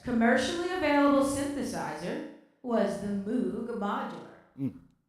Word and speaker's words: Moog: Oo, it is pronounced Moog.